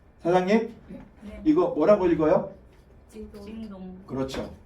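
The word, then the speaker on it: 京东: 징동. 그렇죠. 우리가 읽으면 경동인데 저기서 읽으면 징동이에요. 맞죠?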